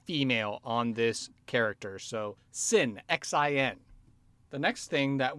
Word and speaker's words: Xin: All right, so the result I got was a 6, Sin, which is spelled X-I-N. So it's actually a Chinese name in pronunciation.